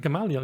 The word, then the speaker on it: Gamaliel: Gamaliel, yeah.